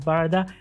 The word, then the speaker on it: Barada: or for an SUV, the Barada, or Barada actually. That's the correct way to say it, Barada.